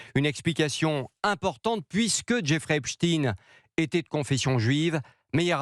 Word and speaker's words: Epstein: un élève de 5e, c'est qu'en anglais, Epstein se prononce Epstein. Les journalistes ne font donc que prononcer un nom américain à l'américaine.